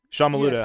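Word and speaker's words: Sean Maluta: Before we go to our final thoughts of the show, we had Patrick Clark versus Sean Maluda. Is that how you say it? Sean Maluda.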